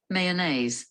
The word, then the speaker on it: mayonnaise: word let's hear it mayonnaise mayonnaise there is a diphthong two vowel sounds that come together a a you remember this